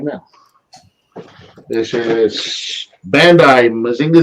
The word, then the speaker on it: Mazinger: It's so American, Mazinger. What? What do you mean? You're so American calling him Mazinger. How's it pronounced? Mazinga. Mazinga.